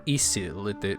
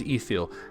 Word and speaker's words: Ithil: Minas is tower, and then Anor is the sun, and Ithil or Isil, they're sort of interchangeable, usually pronounced as Ithil, that's the moon.